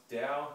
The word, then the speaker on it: Tao: one is Alan W's Dow it's spelled Tao but it's pronounced Dow as in DSM the